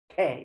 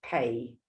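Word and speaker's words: phaṭ: Pe, you can spit it out. Pe. Not like pay, it's pe. The T is silent.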